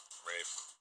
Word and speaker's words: Ralph: and Ralph Fiennes, or Rafe Fiennes? Rafe. I know it's. I don't understand how you get Rafe with an L.